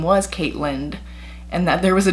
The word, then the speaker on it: Caitland: Yes, it's pronounced Caitland, like Ireland.